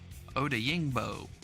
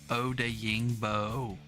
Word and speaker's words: Odeyingbo: Odeyingbo. There we go. Odeyingbo.